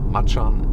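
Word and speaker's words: Macan: have on the market the pora Maan or Machan in the original Indonesian pronunciation Jacko fpace the Mercedes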